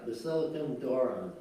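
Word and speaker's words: Basilikon Doron: Basilicon Dorna or Dorn? Doron, right? Yeah. Basilican Dornan, right? Yeah, Basilicon Doron. Basilican Doron, all right.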